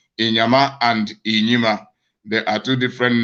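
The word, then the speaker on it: Inyima: name but it is a different name from inyama inima is spelled i n y i m a they are two different names and they do from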